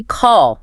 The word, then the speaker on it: call: And finally, call. Remember the drama queen? I before a double L almost always gives you that rounded AA. Your lips round out a bit.